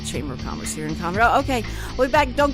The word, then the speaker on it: Conroe: And we're here with Brian Bondi, who is the president of the Lake Conroe Chamber of Commerce.